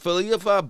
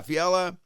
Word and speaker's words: Fiala: With Filipa, Byfield, and Lafayette. Fiala? Yeah, Fiala.